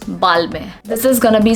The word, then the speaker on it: Balmain: world but hey what how are we going to pronounce it balmain no not at all it is going to be balmy b-a-l-m-a-h we are not going to pronounce pronouns n over here and is going to be silent and we are going